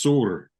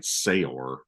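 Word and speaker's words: Saor: and he was like, it's pronounced Soor. So that's the only reason I thought it. I kept saying Sayor. Yeah. Sorry, like I didn't know how to say it before that, but so I don't know. I guess it on archives it says it means free, and it says pronounced soar, so Seur, like soar, and it means free and unconstrained in Scottish Gaelic.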